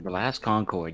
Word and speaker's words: The Last Concord: The Last Concord, yep.